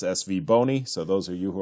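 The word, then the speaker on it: SVBONY: sent me back this soundbite on how to pronounce SV boney so those are you who are looking and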